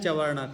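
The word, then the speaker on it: चर्वण: कहा जाता है सचिन तुम बोलो चवण सही उच्चारण है चवण ठीक है और चवण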